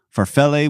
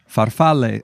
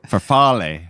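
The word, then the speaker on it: farfalle: black made for us this is my bad pronunciation then you can correct me farell with pesto yes faral faral that is the Italian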